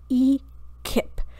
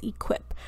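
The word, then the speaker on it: e-QIP: you to save is your e Kip sometimes I mispronounce it as equip but this is your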